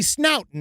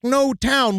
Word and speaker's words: Snowtown: We pronounce everything wrong. I thought it'd be snoutton or something and that's why I said that to you and then I wrong. No, it's snow town like it's where all the elves live on